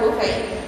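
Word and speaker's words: Buffett: Warren Buffet. Nah, Buffet ya bacanya bukan buffet. Tulisannya Buffet sih.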